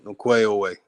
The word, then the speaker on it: Ongweh'onweh: 5 years ago, I made a song saying over and over again, Ongweh'onweh. I was using the K, and then I started changing it and using the proper way, using the G.